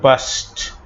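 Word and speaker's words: passed: যাপন করা, এটার ইডি হবে পাস্ট, এটার ইডি এর উচ্চারণ হবে পাস্ট।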